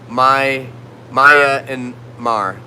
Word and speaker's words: Myanmar: And Myanmar is pronounced Maya and Mar.